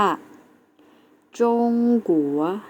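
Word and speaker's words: 中国: ที่ 2 นะ คะ คือ ประเทศ จีน แล้ว จะ ออก เสียง ว่า จง กั๋ว นัก เรียน เรา ออก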